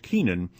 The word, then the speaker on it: Kennan: A notable prophet for a coming age of smallness was the diplomat and historian George Kennan, a steward of the American century with an uncanny ability to see past the seemingly frozen geopolitical arrangements of the day.